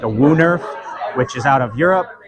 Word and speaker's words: woonerf: So there's a thing called like a WooNerf, which is out of Europe.